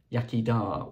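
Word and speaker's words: iechyd da: period was this set of glasses that says yakida which means cheers in Welsh by an idea that it was spelled like that the first book is one that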